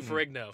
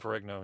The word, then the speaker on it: Ferrigno: It was kind of weird because I wanted to talk to Lou I can't ever pronounce his last name, so forgive me. The original Incredible Hulk. Lou Ferrigno. Ferrigno, yep.